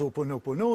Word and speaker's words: Ho'oponopono: très bien dit, Karine, très bien prononcé, mais nous on le dit à la française, Ho'oponopono, et bien il était incorporé dans la pensée Aloha, Aloha.